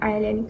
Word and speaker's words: island: to pronounce the word island correctly before listening to my audio guide. According to the teacher, the students thought that the first syllable should be pronounced the same as the verb to be is.